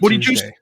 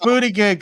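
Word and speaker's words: Buttigieg: Super Pete Booty Juice? Pete Booty Juice. I'm going to ask you. It's pronounced booty gig, sir.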